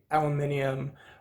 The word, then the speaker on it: aluminium: This one is the aluminium or aluminum plant, however you want to pronounce it.